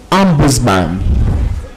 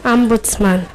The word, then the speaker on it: ombudsman: I think you listen to the British pronunciation very well. That is ombudsman. And then the other alternate pronunciation is ombudsman.